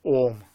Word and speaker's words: Om: If you spell it, even if you spell it in English, A-U-M, Om, 3 things. So Om is made up of three letters: Akar, Ukar, Mukar.